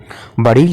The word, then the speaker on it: بڑیچ: کی طرح ہوتا ہے۔ چنانچہ خان روشن خان نے اس کا تلفظ بڑیس اور بڑیچ دونوں طرح سے کیا ہے، چنانچہ اصل تلفظ اس کا بڑیچ اور بڑیس ہے۔ فارسی اور قدیم اردو